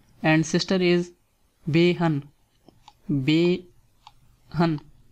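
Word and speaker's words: بہن: And sister is behan. Behan. First say be and then say han. Behan.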